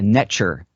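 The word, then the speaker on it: netjer: So, and that nature comes from the Cometian tradition, pronounced netcher, spelled NTR.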